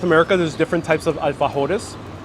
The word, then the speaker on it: alfajores: All around South America, there's different types of alfajores. Or if I were to pronounce it very American style, alfajore.